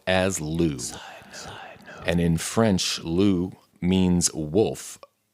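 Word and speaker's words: loup: Lou and in French Lou means wolf spelled l u p but the p is silent so that's a bit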